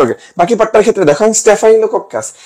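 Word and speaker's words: Staphylococcus: আচ্ছা ওকে, বাকি পার্টটার ক্ষেত্রে দেখো স্টেফাইলোকক্কাস, স্টেফাই, এখানে একটা দেখো আই উচ্চারণ হয়, আমি যেভাবে পড়তাম এই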